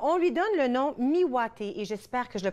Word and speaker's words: Miwate: Alors, on lui donne le nom Miwate, et j'espère que je le prononce comme il faut.